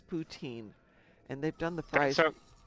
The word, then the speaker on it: poutine: It is Canadian, but it's pronounced poutine, as in put in.